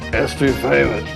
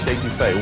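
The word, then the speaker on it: étouffée: Sometimes a person's first visit here can be a little challenging on Cajun pronunciation. I want some etouffee, crawdads. What Bubba's trying to say is crawfish etouffee, one of our most popular Cajun dishes.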